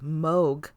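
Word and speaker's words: Mogh: Come, let us, the sons of Moog.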